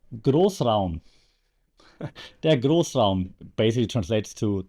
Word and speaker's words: Großraum: Schmidt from Germany, so I can actually tell you how to pronounce it. It's called der Großraum.